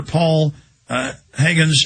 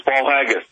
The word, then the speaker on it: Paul Haggis: It has been hailed by 2 Academy Award winner Paul Higgins as powerful and often chilling eye-opener. Hope I'm pronouncing that. Paul Haggis, I think I'm pronouncing that right, Mr. Miller? It is. It's Paul Haggis.